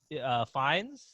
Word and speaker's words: Fiennes: You got is it Rafe Fiennes?